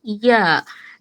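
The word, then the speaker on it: ي: এরপরে আসলাম আমরা জিহ্বার মাঝখানে, জিহ্বার মধ্যখান তার বরাবর উপরের তালুর সাথে লাগিয়ে ৩টি হরফ উচ্চারিত হয় জিম, শিন, ইয়া।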